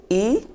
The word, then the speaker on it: I: Then we have letter I, that is E. E.